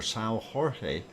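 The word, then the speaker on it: São Jorge: there is our wonderful sale George or Sal Jorge if you say it in Portuguese if I said it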